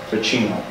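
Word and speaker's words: Vacchino: It's Pentecotus Stephanitis Ficino. They called him Peter. Can you spell it?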